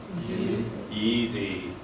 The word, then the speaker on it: Yeezy: Yeezy. It's like rhymes with skeezy.